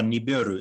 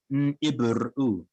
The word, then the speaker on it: Nibiru: That was N'Ibru, that we used to call Nibiru. It's actually pronounced N'Ibru.